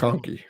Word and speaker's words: McConkey: McConkey, is that how you pronounce his name? Is that yeah, right? Yep. I'm getting Lad that correct. McConkey.